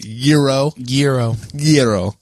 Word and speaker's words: gyro: Is that the proper pronunciation, or is it gyro? Gyro. I don't know. Like saying like gyro, but like saying it quick enough that it sounds like euro. So gyro.